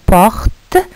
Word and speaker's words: portent: Puis nous avons porte, nous avons le ENT à la fin, porte, nous avons le T à la fin qui ne se prononce pas.